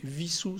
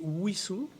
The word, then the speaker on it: Wissous: seule chose c'est que normalement si on est fidèle à l'histoire de la commune on devrait pas prononcer vie sous serre avec le w l'allemande mais le monde devrait prononcer ou issou avec le w à l'anglais parce que ce w ça traduit le web dans la région parisienne je vous donne un